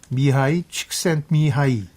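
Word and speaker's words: Mihaly Csikszentmihalyi: 그러니까 이 사람 이름도 이 영어로 하면 그런 발음은 아니지만 영어로 그대로 하면 뭐 미헤일리 칙센트 미하일리인데 더 어려워지네요. 더 어려워지죠. 그래서 그냥 본인이 원하는 방식으로 미하이 칙센트 미하이 이렇게 부르기로 했고 그냥 애칭으로도 많이 불렸습니다.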